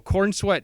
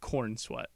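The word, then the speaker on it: Corenswet: me let me do what I want to pronounce there. Like I'm just I don't know. Corin sweat just seems so cin sweat. Corin sweat. Corin sweat. Corin sweat. Not corn sweat.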